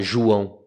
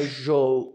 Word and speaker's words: João: Então, quando eles olham o A com o tio, eles não sabem pronunciar o fonema ão. Eles não têm o fonema ão. Então, eles falam João.